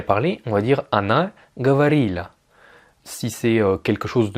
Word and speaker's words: говорило: Alors je dis говорила parce qu'en fait le O n'est pas accentué et dans les règles de prononciation du russe, un O non accentué se prononce comme un A. Mais à l'écrit c'est bien говорило. Ça s'écrit говорило.